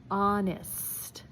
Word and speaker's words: honest: Now, last two words are going to be with a silent H.